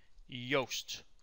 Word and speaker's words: Yoast: And here we just say that, yep, we identify that this specific piece of subtitle is spoken by Yoast. That is how you pronounce this.